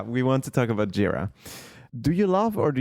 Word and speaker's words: Jira: So, I actually figured out it's not Jira, it's called Jira because it has some Asian roots as far as I understood.